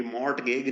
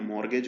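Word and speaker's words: mortgage: को जो है ना ये मोर्ट गेग नहीं होता है मॉर्गेज होता है तो मॉर्गेज वाले प्रॉपर्टी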